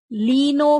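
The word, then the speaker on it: Klenow: You have there is a larger segment or the larger fragment known as leno fragment. Leno L for large fragment. K is silent.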